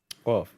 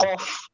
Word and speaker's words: قاف: Qaf. وينقلب. It's not وينقلب, it's وينقلب. Very good. Qaf. You have to pronounce the qaf, not a kaf.